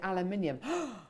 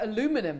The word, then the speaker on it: aluminium: amazing text I love how you Brit say aluminium says Cara in New Jersey aluminium I prefer aluminum if I'm being honest I prefer aluminum Debbie